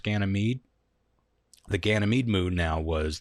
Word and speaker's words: Ganymede: So some of these are tricky, but that made Jupiter's Ganymede, I believe is how it's pronounced, Ganymede.